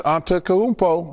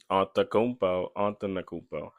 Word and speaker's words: Antetokounmpo: From the Milwaukee Bucks, Giannis Antetokounmpo. Is that how you say it? Antetokounmpo.